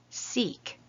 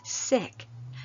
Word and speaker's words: Sikh: the name like this Sikh but my friend Bernard who follows this faith path says sick so I will say